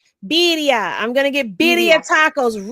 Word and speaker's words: birria: How do you say? Did I say it right? Did I say barilla? Can't hear you. Birria.